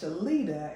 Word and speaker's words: Shalita: special guest with us today it is Miss shalita am I pronouncing it right yes cause I will chop